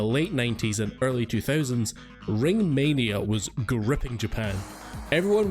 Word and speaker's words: Ringu: It's just how a Japanese person would pronounce it.